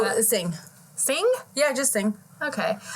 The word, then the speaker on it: Singh: last name how do you say that oh Sing Sing yeah just sing okay so on December